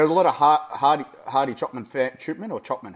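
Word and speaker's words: Hadi Choopan: Yeah, but there are a lot of Hardy Chopman or Chopman. How do you say it? Chupan.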